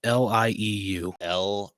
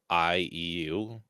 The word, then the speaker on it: lieu: Lieu. Lieu. Yeah. Oh, in lieu.